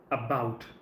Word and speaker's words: about: When you look at this word about, so there is a certain stress pattern. A and bout, about.